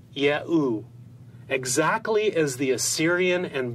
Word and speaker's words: Yahu: This would mean that these scribes would have pronounced God's sacred name as Ehu or Yahu, exactly as the Assyrian and Babylonian evidence demonstrate.